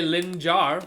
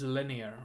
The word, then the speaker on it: Linjär: I know it's tempting to say Linjär, but I just looked at the pronunciation. Apparently it's just linear or something like that.